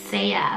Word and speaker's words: Sia: i have the name saya which is spelled s-e-a so it looks like c but it's saya sia means of the ocean but i think saya is so pretty and then